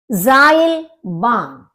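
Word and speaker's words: Seilbahn: हमारी spelling different है जाइल बान जाइल बान क्योंकि ई और आई का आपका आई हो जाता है तो सा जाइल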